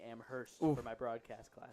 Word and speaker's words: Amherst: It's pronounced Amherst. My professor, Greeley Kyle, shout out Greeley if you're listening. He pounded it into my head. It is not Amherst. It's Amherst.